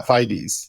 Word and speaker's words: FIDES: Yeah, FIDES, like bona fides, right?